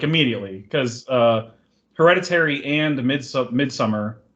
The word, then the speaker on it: Midsommar: immediately, because Hereditary and Midsummer, that's how you say it, by the way. Stop saying Midsommar. Nobody says it like that in Sweden. They're like, yeah, Midsummer. Like, they don't say Midsommar.